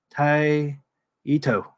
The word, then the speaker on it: Taito: pronouncing it Jason actually if you wanted to be strict it would be more like Tai Ito te Ito ah taito